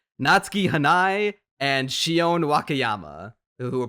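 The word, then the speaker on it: Natsuki Hanae: the performances from natuk oh no hold on I got to make sure I pronounce this right natski hanai and Shion wakayama who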